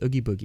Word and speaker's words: Oogie Boogie: I don't know how to pronounce. It's Oogie Boogie.